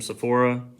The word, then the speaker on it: Sephora: My wife got something from Sephora.